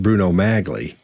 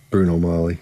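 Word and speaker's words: Bruno Magli: and a halfs um he knows it's not pronounced Bruno magley it's not pronounced and in the circles he ran in somebody would have said dude don't don't don't say magley it's it's it's Bruno Molly so somebody would have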